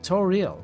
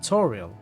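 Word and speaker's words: Toril: didn't not to had stress on the second syllable apparently toal so toal not Toral but toal I will never say Toral I am so used to toriel it's difficult to change I think mortal is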